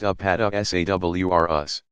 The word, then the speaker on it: Apatosaurus: These giant plant eaters include the Apatosaurus, pronounced Apatosaurus. Used to be called Brontosaurus, and Brachiosaurus, pronounced Brachiosaurus.